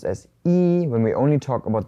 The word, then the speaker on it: 一: But if this is paired up with a word that has the second tone, then the E changes to the fourth tone and it becomes E. So here it's not E Mao, it is E Mao.